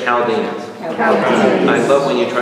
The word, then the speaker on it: Chaldeans: the Chaldeans everybody say Chaldeans I love when you try to say chalginians when you say that word to me and people are reading upstairs the Chaldeans all right it's with a k sound everybody say that with